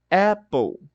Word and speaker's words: apple: e ó Apple Apple esse L ele vai sumir esse ou que a gente ouve não vem desse e ele vem desse L ó por causa da letra L que a gente pronuncia L ok Apple porque eu preciso terminar o p e começar ali e até mesmo a língua ela não vai falar app o inglês o inglês